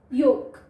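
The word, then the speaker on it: yolk: इसमें हमारा जो एल है वो साइलेंट है, य ओ क, योक, और इसमें भी एल साइलेंट है तो फोक, फोक, फाइन।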